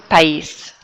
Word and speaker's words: país: Oh, sorry, this should say el país, the country, el país. Notice how you pronounce each syllable there. País, el país.